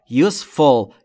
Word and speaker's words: useful: به کلی یا بسیار useful. Useful یعنی سودمند. تلفظش رو دقت کنید. خیلی از زبان آموزا میگن useful. نه عزیزم، تلفظ درستش useful. پس fool نیست.